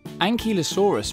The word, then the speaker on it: Ankylosaurus: Ankylosaurus.